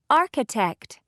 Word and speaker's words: architect: you hear h no architect architect do you hear h no exercise two look at